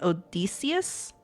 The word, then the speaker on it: Odysseus: Odysseus.